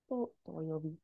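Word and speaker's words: 土曜日: Doyobi is short. Hi, doyobi. It's a curse of English. We want to put that stress on the first syllable, so we make it into a long mora. And it's not long.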